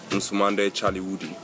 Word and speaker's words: Nsumande Chaliwudi: O título, na língua balanta, pronuncia-se Nsumande Chaliwudi, que quer dizer É Bom de Conhecer.